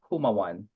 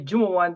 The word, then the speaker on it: Jumawan: So it's Humawan. So there Oh, you go, thank just you for for that. everybody. Because I am so glad I didn't say it because I would have pronounced the J. I guarantee you, But I would have said but the J. if people call me Jumawan, that's fine also.